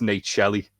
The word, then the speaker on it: Nate Shelley: Where like they got his name wrong, and he went, "No, it's Nate Shelley."